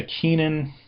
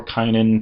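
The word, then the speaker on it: Cainan: um there is a Keenan or Ken depending on whether you want to use the Greek pronunciation or a a Hebrew variant that's been put into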